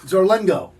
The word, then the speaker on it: Zarlengo: Zarlengo.